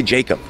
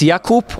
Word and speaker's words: Jakub: I I say Jacob, but yeah, it's Yakoup or to to shorten it, Kuba.